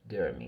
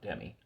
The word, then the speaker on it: Demi: He's become friends with Demi Moore. Apparently that's how you pronounce it, not Demi, Derby.